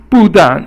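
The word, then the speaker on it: 不但: 不但 is fourth tone, both are fourth tone, which is a falling tone, and it means not only.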